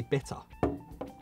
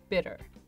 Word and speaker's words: bitter: differently oh I say bitter and I say the our that exists in the word bitter you pronounce the T as well then yes most Americans would say probably bitter bitter it would change the